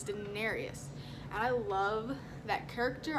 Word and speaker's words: Daenerys: right, so don't quote me on the name pronunciation, but it's Daenerys.